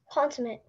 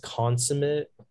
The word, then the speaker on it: consummate: Consummate. May I have all the information? Yeah. So it can be pronounced consummate, consummate, or consummate.